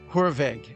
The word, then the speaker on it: Hoorweg: We're here today with Hurve. Am I pronouncing your name properly? Yes, you are. You're actually probably closer to the actual Dutch pronunciation than most people.